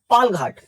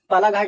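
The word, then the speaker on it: पालघाट: सो देखो जो हमारा पास हो रहा है इनका नाम है हमारा पाल घाट। पाला घाट आपको पढ़ने में लगेगा, बट एक्चुअली इसका प्रोनाउंसिएशन है पाल घाट।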